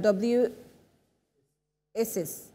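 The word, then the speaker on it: WSIS: world s summit for information society that's a w isis that's how you pronounce it tunisia and then uh cto connecting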